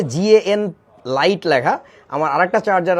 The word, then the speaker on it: GaN: ইজ গ্যাং charger বলে এটা খুব ভালোবা এই গ্যাং না উচ্চারণটা actually G N gallium nitride আমি তোমাদেরকে একটা মজার জিনিস দেখাই